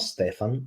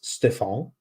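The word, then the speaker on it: Stéphan: It's not Stefan. It's Stefan. He was the coach that led Rennes to win the French Cup.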